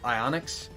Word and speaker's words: Ionix: of the character is rough Ionix um or Onyx I guess you could call them just or like the eye is silent um I just thought